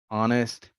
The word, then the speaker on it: honest: when to pronounce h the h sound is never pronounced in these words most of them came into english from french norman french to be more precise our honor heir honest vehement exhibition number two